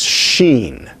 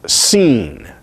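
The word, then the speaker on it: שׁ: the letter so that if you have a sheen with the dot on the right then that is pronounced as sheen sheen which is alveolar fricative and voiceless sheen sheen then if the dot being on the left of the letter upper part of the letter then it is pronounced seen seen by the way the word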